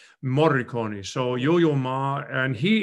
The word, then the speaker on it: Morricone: And very exciting is tomorrow night is Yo-Yo Ma, in a tribute to Enzo Marconi, is that how you say his name? The film composer. Morricone.